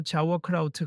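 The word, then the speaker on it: Sauerkraut: 한실장은 흥하고 비웃으며 정확히는 독일어로 자워크라우트 같은 발음이죠.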